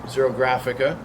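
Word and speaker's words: xerographica: wit year row waiter in 1953 how to pronounce the name zero grafica zero grafica the SubGenius it's in which is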